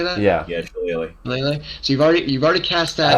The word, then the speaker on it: shillelagh: Can't pronounce it. The Shillelagh. Shillelagh. Is that how you say that? Yeah. Yeah, Shillelagh. Shillelagh.